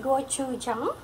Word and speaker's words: gochujang: container so I remember okay so it is pronounced gochujang so this one is mild but I find